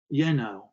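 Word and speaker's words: Jenő: metal was inscribed yenno j-e-n-o the j is silent against my palm the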